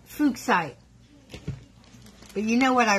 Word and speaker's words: Fuchsite: And he wants me to pronounce it correctly. So it's called Fuchsite.